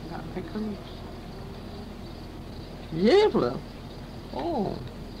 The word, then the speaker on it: Gävle: Looks like G-E-V-L-E. But you pronounced it Gävle.